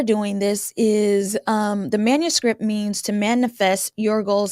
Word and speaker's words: Manuscript: with defining what does manuscript mean and it's pronounced Manny like a manicure plus scripting the combination of words